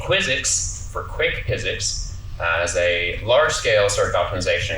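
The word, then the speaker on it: PyZX: It's pronounced physics, which is like trying to say physics, but you left the H out.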